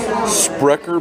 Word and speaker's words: Sprecher: rate check out this what are we gonna pronounce this like Sprecher Sprecher cream soda that would be spr ec